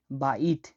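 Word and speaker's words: بيت: বায়র উচ্চারণ হয় ব হিসেবে। উদাহরণ হচ্ছে বাইত।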